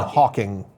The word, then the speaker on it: Hawking: Yeah, it's Because it's Stephen Hawking.